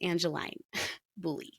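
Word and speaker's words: Angeline Boulley: there's a website where you can go hear how people Oh, pronounce their names. And so I learned that she was Angeline Bully.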